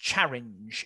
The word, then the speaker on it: Charing: Now, Charing was a medieval village. It would have been pronounced Charinge in the Middle Ages.